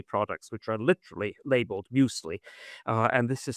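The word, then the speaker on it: Müsli: which are literally labeled muesli uh and this is spelled m u s l i and it's really a German word musli uh and musli is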